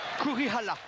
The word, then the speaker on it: Kurihara: Alors si je le prononce en japonais, c'est Kurihara. Ça, c'est pas évident. Tout à fait. On prononce effectivement le R là.